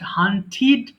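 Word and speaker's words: hunted: মানে স্বীকার করা হান্ট হান্টিড হান্টিড এবং আমরা জানি যে লাস্টে যদি টি ইডি থাকে we have to pronounce this part so হান্টিড ignore মানে উপেক্ষা করা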